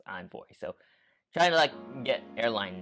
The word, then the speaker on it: Envoy: I sometimes pronounce it as Envoy, but it's actually pronounced as Envoy.